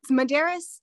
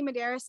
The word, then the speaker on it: Medeiros: Medeiros. So I say Medeiros. A lot of people say Medeiros. It can go either way. I'm not offended by either.